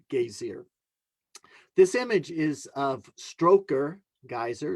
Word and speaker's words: Strokur: This image is of Stroker geyser. Strokur, if I try to say it properly, is their version of Old Faithful, right?